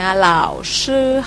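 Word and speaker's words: 老师: เสียง 1 นะ คะ SH ออก เสียง ซ โซ่ มน ลิ้น สระ อือ ซื่อ นะ คะ เหล่า ซื่อ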